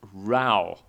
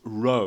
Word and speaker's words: row: "an awful row" - this is NOT pronounced row (rOH) - when you are in a boat